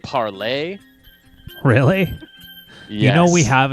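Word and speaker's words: Parler: which is apparently pronounced apparently they they want you to pronounce it parlay really you know we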